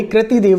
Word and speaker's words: कृति देव: है कृतिदेव फंट यानी कृति देव जो होता है उसको बोलते हैं इसको कई-कई विद्यार्थी कृति भी पढ़ते हैं लेकिन इसका शुद्ध उच्चारण है कृति देव कृतिदेव जो टाइपराइटर रेमिंगटन